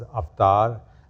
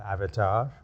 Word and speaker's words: Avatar: us saw this movie what we pronounce as AAR and Americans call Avatar you know that two